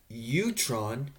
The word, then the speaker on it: Ewerton: Utron is how you actually pronounce it, is definitely okay with doing the interview with me.